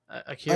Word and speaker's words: Akira: Akira.